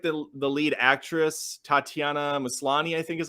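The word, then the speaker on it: Tatiana Maslany: done I really like the the lead actress Tatiana maslani I think is how you say it um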